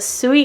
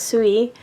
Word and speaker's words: Sui: I've used some of these and stuff, but these are the Suie Gosh, and I might be pronouncing that Sooie, S UI, gouache.